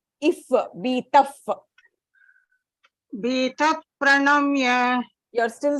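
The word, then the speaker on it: भीतः: So you have to give that if sound.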